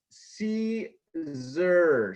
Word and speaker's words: Siser: Joe.......That Siser Guy....: But si se R is pronounced see zur so congratulations on the first lesson.